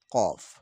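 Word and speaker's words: ق: ফা ফা ফা ফা ফা ফা এখানে যে হরফটি দেখতে পাচ্ছি হরফটি হচ্ছে দুই নক্তাওয়ালা কফ এ কফ হরফটি ভালো করে উচ্চারণ করতে হবে জিহ্বার গোড়া তারবার উপরে তালুর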